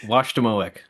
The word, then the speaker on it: Washademoak: His recent research has been focused on lithic quarry sourcing at, how do you pronounce it, Ken? I don't know. Washademoak.